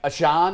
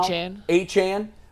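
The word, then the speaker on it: Achane: Like Ashan or however he's pronouncing his name now. Achan.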